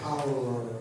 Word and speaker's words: aurora: people aren't pronouncing it correctly. It's Aurora.